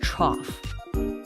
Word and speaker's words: trough: It's pronounced trough.